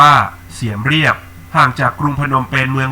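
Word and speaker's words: เสียมเรียบ: ที่ เมือง เสียม ราช หรือ ชื่อ ท้อง ถิ่น ออก เสียง ว่า เสียม เรียบ ห่าง จาก กรุง พนมเปญ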